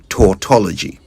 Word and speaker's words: tautology: That type of redundancy is called tortology. t a u t o l o g y tortology.